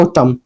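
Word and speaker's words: autumn: ऑटम ए यू टी यू एम एन को क्या पढ़ा जाता है?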